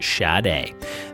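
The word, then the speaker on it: Sade: was shot a shad a si de but pronounced shad a the theme from this round if you guessed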